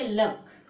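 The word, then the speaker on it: luck: तो इसको, और ये तो साइलेंट रहता है, ठीक है, तो क्या बोलेंगे लक, के को बंद कर देंगे, इसको इतना पढ़ेंगे, क्या पढ़ेंगे लक। ठीक है, क्या पढ़ेंगे सी को, क्योंकि सी साइलेंट रहती है इसको सी को नहीं पढ़ते हैं, तो क्या पढ़ोगे इसको लक।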